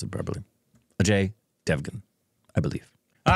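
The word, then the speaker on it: Ajay Devgn: though are we going to do like an AJ devun thing with his new film no no or I should say AJ pronounce it properly AJ Devan I believe all right we got it without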